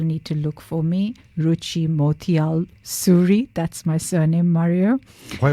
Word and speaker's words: Ruchi Motial-Suri: linkedin so people need to look for me ruchi motiyal suri that's my surname mario why look at me